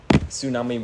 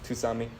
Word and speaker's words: tsunami: I used to say tsunami with the T. Tusami. That's just saying it without the S. Yeah, but that's how I actually said it. That's just saying it wrong.